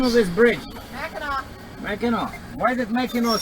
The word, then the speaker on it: Mackinac: That's why that's such a weird pronunciation, because it's a French word. So it is Mackinac. Mackinac Bridge. But it's kind of funny, I don't know. Like, this is the English language, we are in the US. But we have to pronounce the word in the French way.